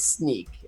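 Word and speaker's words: Snyk: it's spelled s NYK there's actually some debate even internally in the organization as to how you pronounce it but I just wasn't free well SNY case so it's either sneakers Nick but it's sneak it's just our our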